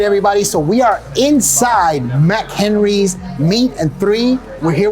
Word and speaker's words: MacHenry's: is the name like mack henry's like mac and cheese okay that's cool so